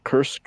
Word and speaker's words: Kursk: They just took back how do you pronounce this country or this region? The Kursk region Yeah, that Kursk.